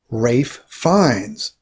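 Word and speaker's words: Ralph Fiennes: at the top left we have rafe fines different than it looks right next we have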